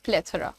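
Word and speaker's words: plethora: सारे लोग बोलते हैं बट the pronunciation is प्लेथ हाउ डू you pronounce it इट इज प्लेथ ठीक है थरा नॉट थोरा इट इज प्लेथ इनफैक्ट थोड़ा सा अगर आप इसमें ए का साउंड भी दे देंगे तो चलेगा प्लेथ ठीक है हम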